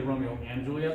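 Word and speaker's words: Romeo × Juliet: a manga i think called romeo spelled x juliet but it's really romeo and julia that's how it's pronounced so it's a ambiguous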